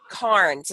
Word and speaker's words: Cairns: alone today we have the lovely Alyssa Turner Karnes is how you say right I went on